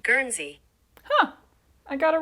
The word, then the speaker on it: Guernsey: my American ass doesn't immediately know how to pronounce the word gery gery huh I got it right assuming you can